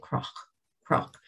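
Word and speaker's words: cnoc: we say mara mara we pronounce that n as an r so we don't say knock we say croc croc but the fact that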